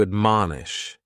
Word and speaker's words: admonish: The first word is to admonish, and admonish has 3 syllables, and the stress is on that second syllable, mun. Admonish.